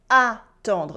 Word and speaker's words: attendre: I am waiting for someone with the verb attendre, not entendre, attendre. Now, j'entends quelqu'un.